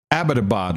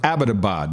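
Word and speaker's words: Abbottabad: page though they they did it up nicely abadabad ladies and gentlemen abadabad not abadabad and one guy you'd expect to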